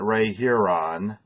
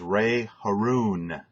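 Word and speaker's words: Ray Harroun: the first indianapolis 500 wasn't ray here on it was Ray Haroun you got to know how to pronounce that if you're going to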